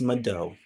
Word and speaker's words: mvto: in the Moki language which is Mado it's spelled mvto and that means thank